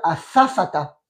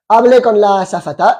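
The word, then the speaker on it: azafata: l'otesse de l'air effectivement donc on prononce bien à safata à fafata à safata ouais à safata j'ai parlé avec l'otesse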